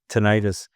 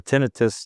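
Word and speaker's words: tinnitus: of other issues like tonitis uh or tinitus depending on how people um pronounce it.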